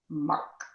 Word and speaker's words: marc: happy so what is mark well it's m-a-r-c the c is pronounced silently in french and mar is really